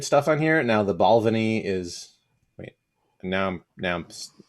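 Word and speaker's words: Balvenie: on here now the balvany is wait now now i'm i'm saying that right right about balcony balvini yeah balvini that's it that's where the accents on the second syllable this is like a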